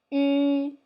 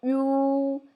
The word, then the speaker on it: 吁: I would like to say 吁, not 유. This one, we don't have that sound.